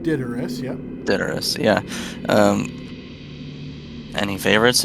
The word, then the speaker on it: Daedalus: If we should have, do you any favorites of Master Daedalus? Daedalus? Did I get that right? She would pronounce it correctly, I think. She said Daedalus, yep.